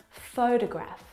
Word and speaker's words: photograph: pronunciation of these words so in the first example photograph the first syllable is the stressed syllable you can hear it very clearly photograph o fo de Graaff